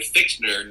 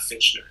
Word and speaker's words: Fichtner: I think it's William Fichtner, not Fitchner.